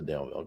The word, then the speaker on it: Daleville: it was at the Delville con. So nice. Okay, cool. Good old Delville con. You don't pronounce Dale with a long A sound. It's more like Del, D-E-L-L.